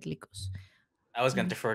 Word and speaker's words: Lycos: because it sounds because likus is greek for wolf but i think it's an american company so it's pronounced lycos i think you're right